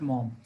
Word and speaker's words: Maugham: And Somerset Maugham, this is not Maugham, this is Maugham, G-H, you don't have to pronounce G-H, it is Somerset Maugham.